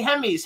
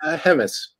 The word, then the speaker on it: Hemmes: with Ron Russell writer director producer Paul C hems hems is right right is that how we pronounce it hemus hemus okay hem don't you speak English well